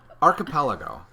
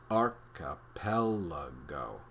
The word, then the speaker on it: archipelago: It has 5 syllables, one for each of the fingers on your left hand. Say it slowly, emphasizing the first and third syllables. Archipelago.